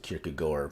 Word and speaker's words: Kierkegaard: a false stereotype that kierkegaard or i was told that you're supposed to pronounce it kierke goer but i refuse because it sounds so contentious uh was only concerned